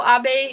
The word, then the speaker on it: Abe: couple years ago Shinzo a who is the Prime Minister of Japan it's a not Abe just so you know you should know how to pronounce it um AB uh has